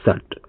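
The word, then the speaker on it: shut: को देख लेते हैं जैसे एस एच यू टी इसको सूट नहीं पढ़ते इसको पढ़ते हैं शट इसको क्या पढ़ते हैं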